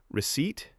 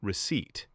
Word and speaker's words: receipt: Receipt sounds like receipt and the P is silent.